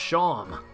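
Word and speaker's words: Seam: tell rhymes hello Sean the name Sean pronounced Sean and this is my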